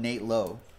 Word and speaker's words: Nate Lowe: Brant an eight low they spelled the same way they pronounce it differently it's not weird Brandon Lau and Nate Lowe last box and then